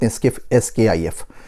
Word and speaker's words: SCIF: world And that is SKIF room Sensitive Compartmented Information Facility SCIF We pronounce it SKIF So look at SKIF